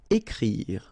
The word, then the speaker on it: écrire: Then écrire. So remember, you've got this accent aigu on the top of e, so it will produce the sound e. Écrire. Don't insist on the final e.